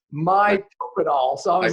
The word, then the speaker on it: Mitopinol: Because first of all, I went Mito and Pinol, and so you said, oh, it's Mitopenol. So I was like, okay, I'm going to mispronounce it.